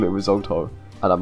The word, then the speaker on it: risotto: calling it like that it's risotto like are you freaking mocking me it's an Italian word so you see Italian pronunciation A little bit of